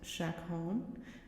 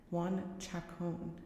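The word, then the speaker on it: Juan Chacón: It's actually not pronounced Shakon. Juan Shakon is the name.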